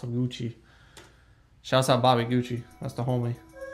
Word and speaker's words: Gucci: gucci shout out bobby gucci that's the homie it was a name that sounded so sweet so seductive yeah cause it rhymes with coochie but that name was